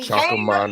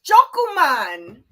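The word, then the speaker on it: 조금만: That's not how you say it. It's chokuman. You said choco man.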